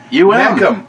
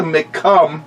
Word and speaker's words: Mecum: MECUM. Mecum, not the McCum.